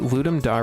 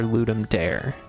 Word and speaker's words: Ludum Dare: hear it as ludum it's either people either pronounce it ludum Dar or ludum Dare You Stream like four